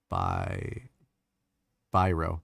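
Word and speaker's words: Biro: He's filling out paperwork with the Birio, I think is how they pronounce it. By Bro, bro is how they pronounce it. It's like a name of a a pen brand.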